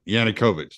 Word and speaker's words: Yanukovych: I said his name wrong. Viktor Yanukovych. Yeah, Yanukovych.